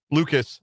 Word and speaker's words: Lucas: didn't get Luke's out, Lucas, I guess is how you say his name. It looks like Luke's. It's Lucas.